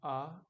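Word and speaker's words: あ: So this is not a car, but why? A is pronounced like A. Like when you come to a realization, it sounds like ah in the car.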